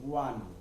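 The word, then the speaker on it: one: যেমন ওয়ান, এখানে যদিও বা হয়েল আছে কিন্তু ওয়ার মতো উচ্চারণ হওয়ার কারণে এন না বসে এ বসে।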